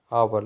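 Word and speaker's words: hour: अब अगेन यहाँ पर यू आर एन आवर है, तो आर जो है इसके अंदर एच हमारा साइलेंट है, और जो साउंड आ रही है वो हमारी वोवल साउंड आ रही है, आवर लेट।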